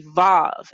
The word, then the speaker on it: vav: I know in the modern Hebrew pronunciation, this consonant or this letter, wa, is known as a vav as well. Vav, V-A-V, vav, right?